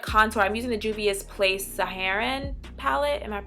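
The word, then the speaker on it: Juvia's Place: now for what con so I'm using the dubious place saharan palette and I'm pronouncing it correctly in the shade Yara and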